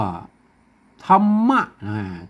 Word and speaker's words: ธรรม: มา จาก กรรม อ่าน ว่า ธรรมะ ธรรมะ นะ ครับ เปิ้น ให้ มัน ตรวจ